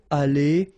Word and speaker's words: allé: The good news is that phonetically they go the same way, aller, aller, aller, aller, all right?